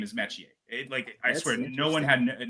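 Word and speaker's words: Metchie: I asked him, how is your last name pronounced? Because on the CFL broadcast, they call him Royce Metier. It is Metier. It is John Metier.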